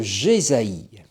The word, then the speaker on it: Jésaïe: » Nous sommes donc aujourd'hui en compagnie d'Isaïe, ou d'Ésaïe, ou mieux encore de Jésaïe. Et quand je le prononce ainsi, Jésaïe, vous entendez Jésaïe, Josué, Jésus. C'est donc 3 fois le même nom.